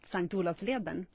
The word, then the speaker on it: Selånger: this live broadcast at St Leen well that's how we pronounce it in Swedish sank olav's Leen you